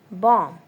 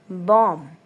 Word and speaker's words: bomb: Bomb. Bomb. Not bomb. It's bomb. Bomb. B is silent.